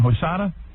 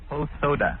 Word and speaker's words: Hosoda: Hosada. Hosoda.